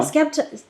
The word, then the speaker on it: Skepta: Skepta.